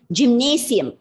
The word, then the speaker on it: gymnasium: It is gymnasium. Okay, it's gymnasium. Normally, we pronounce it like we bring a shiam sound, the gymnasium. It's wrong. Okay, yeah, it's a gymnasium. You have to bring that sa sound.